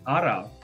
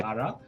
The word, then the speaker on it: ara: into the third word the third word is ara we don't say it like that we say ara ara it's kind of strange